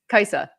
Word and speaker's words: Kaisa: You told me how to pronounce Kaisa. Kai with an A on the end.